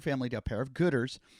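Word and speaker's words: Goodr: to a pair of gooders it's g-o-o-d-r that's how they spell it g there's no er it's just r g-o-o-d-r um head over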